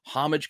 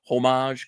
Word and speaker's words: homage: Those homage covers, homage covers, homage, however you choose to say it. There are three different ways that you can pronounce it, and all three are correct, depending where you're at, or, etc.